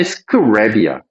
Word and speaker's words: scrape: 이거는 발음이 scrape이야. 이렇게 짧게. scrap, 얘는 scrape. long vowel, short vowel.